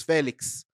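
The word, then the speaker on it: Félix: He's gone now, but it was never Felix. It was Felix.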